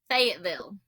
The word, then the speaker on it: Fayetteville: If you're from Tennessee, true Tennessee, it's Fayetteville. I'm going to Fayetteville, not Lafayette.